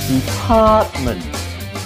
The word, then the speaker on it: department: Department is stressed on the second syllable.